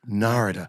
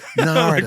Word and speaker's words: Narada: So Narada, but he said Narada, more like Narada, like Florida, 3 syllables. Narada.